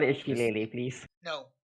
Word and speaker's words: shillelagh: We're not gonna pronounce half the letters because we're related to French people or something.